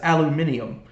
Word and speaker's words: aluminium: So luckily the school nurse who also um helped with announcements told me that the British say it as aluminium. So I said aluminium and I felt very